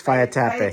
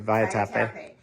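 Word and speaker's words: Vaitape: It's Via Tape. Via Tape, thank you. Looks like it's Via Tap is how you spell it, but Yes, Via Tape.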